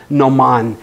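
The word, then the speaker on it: gnomon: ground it's called a Noman that's the formal language in sundial terminology Noman starts with a silent G no Mon they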